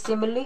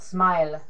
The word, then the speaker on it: simile: you know what is simile or metaphor it is pronounced as simile not smile all right simile and